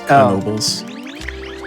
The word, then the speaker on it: Knoebels: I think it is pronounced with a hard K, so it is Knoebels. Despite what English would make you think.